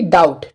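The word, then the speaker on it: doubt: टी ठीक है तो बी के बाद में जहां भी टी ए जाए तो वहां पर क्या होता है बी साइलेंट होता है तो इसके लिए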